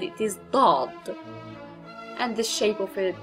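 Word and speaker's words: ضاد: Now, we have a similar letter to sod, which is dod. Also a heavy D, so it is not dad, it is dod.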